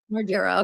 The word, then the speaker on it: Margera: Margera.